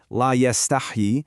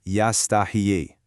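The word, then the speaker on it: لا يستحيي: So the correct way to say it, la yastahi, has a silent hot sound. But if you make a mistake, you might vocalize it and it becomes yastahiyi.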